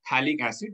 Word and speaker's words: phthalic acid: It is known as phthalic acid. Likhte yahan par P hai, but that P is silent. So this is known as phthalic acid.